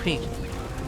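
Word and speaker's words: Qing: Again, it's with Q-I-N-G, King.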